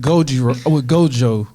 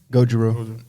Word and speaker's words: Gojo: The scene with Gojo, is that how you say his name? Gojiro. I got you right here. Hold on. Gojo. So it is Gojo.